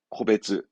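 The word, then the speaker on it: 個別: 네, 코베츠.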